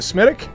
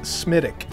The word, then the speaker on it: Smithwick: i you mean a smithic yes yes that's what i said smitic so don't make an american fool out of yourself like i did although spelled smithwick they pronounce it smitic if you like that